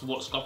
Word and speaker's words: Schwarzkopf: And I'm gonna take, if you haven't used this, this is the Got To Be by Got To Be Glue by Charles Schwarzkopf, and that's how you say it.